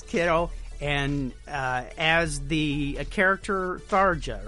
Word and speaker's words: Tharja: And as the character Tharja, right? Is that how you say it? Yes. Tharja.